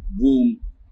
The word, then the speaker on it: womb: It is oo and mm. Womb, not womb or womb. The B is silent and it has the oo sound.